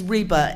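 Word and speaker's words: Rheba: My first name is Reba. It's like Reba McIntyre, but it's spelled R-H-E-B-A.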